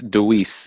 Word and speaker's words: Dewease: It's Deweese. It's spelled Dewease.